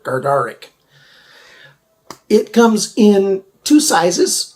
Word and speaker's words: Gardarik: we're looking at the gadaric gardaric today it's one of those words i just always say wrong i forget to pronounce the first r gardaric it comes in two